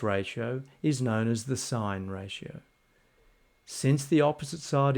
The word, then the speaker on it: sin: Notice that s has been abbreviated to s i n, but it is still pronounced sign.